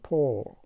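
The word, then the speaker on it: poor: را نشان داده است که نشان میدهد که ما این را در آخرش یک ری بسیار خفیف تلفظ میکنیم، پور.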